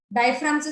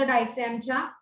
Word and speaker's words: diaphragm: डायफ्रामचं spelling बघा, जी तिथे silent आहे, DIAPHRAGM.